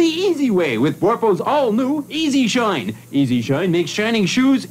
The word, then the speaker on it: E-Z Shine: That's right, it's not the word easy written out, it's the letters. It sort of sounds like it when you pronounce the Z and Z. It sounds like Easy Shine.